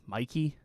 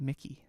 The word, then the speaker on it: Mikey: you say her name Mikey yes I always thought it was Mickey well the way it's the way it's written phonetically it should be Mickey but but it's Mikey yeah it's even worse Right